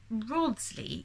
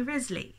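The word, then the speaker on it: Wriothesley: like the new narrator he says Rawnsley even though the book says call me Risley is Risley is that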